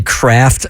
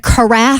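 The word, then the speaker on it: carafe: it's ornament I think I used to say craft of wine also oh instead of kff uhhuh I thought it was a craft and on The Air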